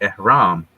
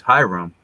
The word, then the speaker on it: ihram: And the name of this cloth, interestingly, is the ihram, which phonetically is Hiram.